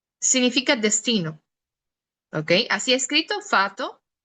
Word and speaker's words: fato: Ahí está, fato significa destino, ¿ok? Así escrito, fato, y si lo notan, no lo estoy pronunciando tan fuerte, fato, significa destino.